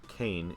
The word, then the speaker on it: Kain: Kain's name is just pronounced like Kane in the DS version.